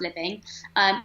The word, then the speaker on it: Liveing: So my Instagram is at Living, and there is an E in there, but it's pronounced Living.